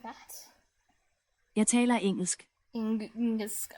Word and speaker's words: engelsk: Jeg taler engelsk. Engelsk. Like, here, the L sounds different. You can hear like the... Jeg taler engelsk. Engelsk. Like, it's more like that.